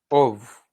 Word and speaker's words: of: just wonder of pronunciation of so you have off and off so it's more so when you pronounce of it's more like ov you pronounce it like